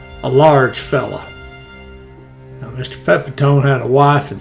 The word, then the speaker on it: Pepitone: Now, he attacks a fella named Mike Pepitone. Or that could be Mike Pepitone. I worked with a fella and he pronounced it Pepitone, but either way, now he's a grocer.